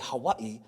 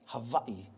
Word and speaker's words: Hawaii: So the W is a V sound, so even though we say Hawaii, properly pronounced Hawaii.